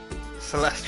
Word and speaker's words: Celeste: Celeste rhymes with molest.